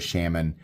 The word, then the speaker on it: Shaman: Really like I always refer to this as the Spyderco Shaman. It's pronounced shaman, bro.